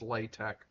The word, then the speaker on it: LaTeX: Uh it's spelled like latex and it's pronounced latte uh with a capital L, a capital T and a capital X.